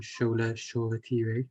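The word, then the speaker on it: Shola Shoretire: nice and then we saw a debut from scholar shawwater which is the right pronunciation um so what were your thoughts on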